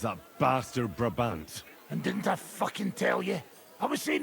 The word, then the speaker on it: Brabant: Braant. Braant. I kept seeing his name wrong. Braant. If there's anything that can spoil my mood, it's that bastard. Brabant.